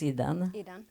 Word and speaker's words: Idan: So Idan, because you pronounce Idan.